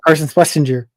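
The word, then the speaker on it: Carson Schwesinger: Yeah, Carson Schlesinger.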